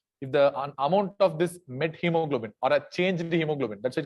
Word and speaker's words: methemoglobin: if you have a met hemoglobin remember that is not methemoglobin that is met hemoglobin so because I I've seen many people pronouncing it as methemoglobin meth is wrong it's not a uh